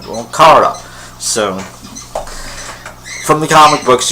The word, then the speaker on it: Kara: And Kara, yes, it's pronounced Kara.